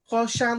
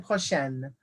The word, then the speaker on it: prochain: Notice here, prochain looks different than prochaine. Notice how I'm pronouncing it differently. Prochaine, prochain, prochaine, prochain. Because this noun right here, le mois, is masculine.